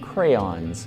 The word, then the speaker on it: crayon: I pronounce them crayons. It's a two-syllable word. It starts with cray, ends with on.